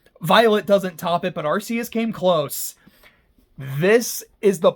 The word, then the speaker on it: Arceus: It's an ARC phone, not an ARS phone. And it's the RKS system, not the ARS system.